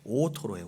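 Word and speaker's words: 大トロ: 여러분, 혼마구로의 제일 그 비싼 곳이 오토로예요. 오토로. 우리나라의 사람들이 발음이 잘 안 되고 오도로 그러세요. 오도로. 너무나 촌스러운 발음입니다. 혼마구로의 오토로.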